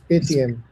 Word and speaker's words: Paytm: Uh Dishant how do you pronounce this, Paytm? It's Paytm.